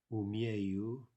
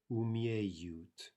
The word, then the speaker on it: умею: умеешь, умеет, умеем, умеете, умеют. Now note the yeah combination, right? Remember that those are two distinct syllables, both of which begin with a yeah sound, an и краткая sound.